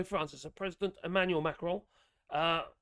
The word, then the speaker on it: Macron: as a president Emanuel macron uh people keep call macron it's not a macron or macroni macron M don't pronounce the n on Monday uh to